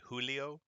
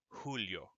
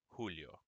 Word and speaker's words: Julio: syllables of this name in english we say julio but it's actually this repeat after me julio julio jalapeno hota k and